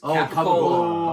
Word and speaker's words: capicola: What's the correct pronunciation of gabagool, my friends? What is capicola?